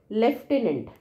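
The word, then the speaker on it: lieutenant: लेकिन स्पेलिंग बहुत इंपोर्टेंट इसमें एफ नहीं आता फिर भी हम एफ का साउंड एफ प्रोनाउंस करते हैं तो इसको कैसे याद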